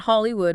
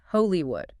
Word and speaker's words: Holywood: Not Hollywood with a long ooh. It's Holywood. Stress on the first syllable too.